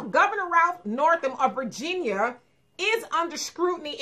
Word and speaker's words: Northam: Yeah, Naumburg, or the Michael Jackson governor. The Michael Jackson governor. Yeah. Okay, his name is Northam. I'm sorry. Northam. Governor Ralph Northam of Virginia is under